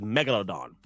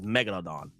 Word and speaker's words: Megalodon: The proper the proper way to say Mega Megaladan is Megalodon. That's the proper pronunciation is Megalodon, but I like to call I like I I go by Megaladon. I like to call it Megaladon.